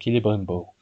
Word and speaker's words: Celebrimbor: bien vous prononcez Celebrimbor, ou bien vous prononcez comme Tolkien voulait les C en K, et donc ça fait Celebrimbor.